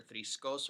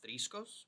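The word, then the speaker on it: θρησκός: Now, here we have, again, two different pronunciations of this word that are both attested and acceptable, either thriskos or thriskos, with the stress pulled back, the paroxytone versus oxytone.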